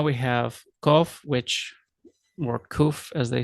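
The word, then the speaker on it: qof: have cough which or koof as they say in the modern pronunciation would just come across like um so it sounds like a k basically in in english uh historical or comparative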